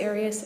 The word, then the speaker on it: Arias: Um, your name has been pronounced in most of this trial. Aras. Is there another way of pronouncing it? Have you always pronounced it Arias? I've heard it pronounced about seven different ways. Um, I say Aras as does the rest of my family.